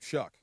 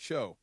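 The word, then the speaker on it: Shough: Well, that's a guy I got my eye on, is that quarterback, and I can't say his name, Shuck. Because it doesn't look like Shuck. It looks like Show.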